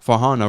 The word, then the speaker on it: Farhana: really important for them which is why fana rather than Hannah was significant so for people